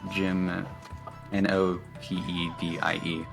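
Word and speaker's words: Gymnopédie: Like you can find the music yourself on YouTube too if you look up Jim Nopetti. That is Jim Nopedie. There's like an accent on the E, the first E, I believe.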